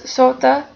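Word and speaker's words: soote: don which means then likewise the words sota and rota include a short e as a suffix where modern english speakers would not pronounce the e separately middle english speakers distinguish the e as a syllable of its own because of this sota and rota are considered to have two syllables as compared to the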